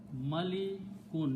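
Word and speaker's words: مَلِكٌ: Malikun. Important, pronounce it correctly.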